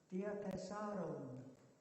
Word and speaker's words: Diatessaron: In fact, Diatessaron should be pronounced Diatessaron, because it's Greek, and it means from, for.